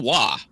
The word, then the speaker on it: Roy: Stephen Wah. That's you, Joe. Well, it's spelled Roy.